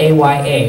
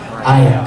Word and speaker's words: Aya: like my little girlfriend, the character's name was spelled A-Y-A, which is what? Aya, correct. But I had to say her name was Aya. And I was like, no, that's not the way that name sounds at all.